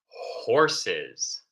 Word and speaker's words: horse: If we have difficulty, if it is too hard to pronounce the H, taking a deep breath and we exhale, we breathe out horse.